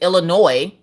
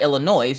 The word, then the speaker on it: Illinois: i said illinois because i pronounced the s and she's like it's illinois not illinois you don't pronounce the s now you guys know